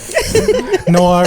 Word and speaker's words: noir: Noir is just Australian for no.